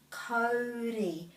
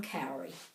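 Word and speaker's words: kauri: cowrie lands school but this word is always cody cody almighty cody trees deserve our respect i'm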